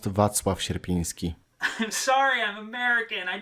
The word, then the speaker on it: Wacław Sierpiński: I don't know what Ruby just said, but it's pronounced Wacław Sierpiński.